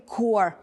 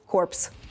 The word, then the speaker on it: corps: як Marine Core Cor от питання Чому оцій PS не вимовляються ко не зро Ну насправді Зрозуміло Тому що це слово тому що це слово французького походження і там половину літер просто можете Ну типу ігнорувати ось тому infantry -